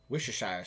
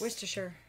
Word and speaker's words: Worcestershire: How do you pronounce that brown cooking liquid? Liquid. Worcestershire sauce. Worcestershire. No, Worcestershire.